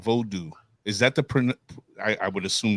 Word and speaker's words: Vodou: So I know of 3 pronunciations. There are probably more than this, just so we're clear. But 3 proper pronunciations. And I will say voodoo is none of the proper pronunciations, okay? Unless you're talking about New Orleans voodoo, which is now extinct.